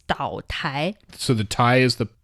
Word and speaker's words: 岛台: 岛台. 岛台. Island mean 岛, but it's not an actual island. Still some version of a counter. So it's 岛台.